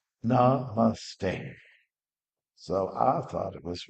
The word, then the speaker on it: Namaste: It's like, as we know, it's like a three-syllable word. Namaste.